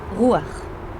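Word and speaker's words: רוּחַ: We will now focus on this feminine Hebrew noun once again pronounced as rûaḥ, which occurs 378 times in the Old Testament.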